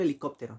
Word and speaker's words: helicóptero: Entonces ahí podemos nosotros ver, por ejemplo, helicóptero, ¿no? Ese no está vacía la E, pero no se pronuncia la H, ¿está bien?